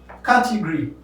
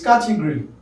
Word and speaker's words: category: Category. Of course, you know some people will say category. It's category. Category.